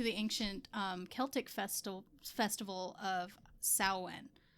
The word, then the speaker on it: Samhain: ancient Celtic festival of Samhain. So that's the one that's spelled Samhain. Okay. But the MW combination in the Irish language turns it into a W sound.